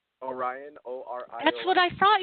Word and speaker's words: Orion: Did you say Brian? Orion, O-R-I-O-N.